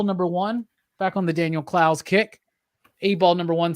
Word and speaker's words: Daniel Clowes: the time but very disappointed with how many youtube videos i've watched this week of people saying daniel close um finally i got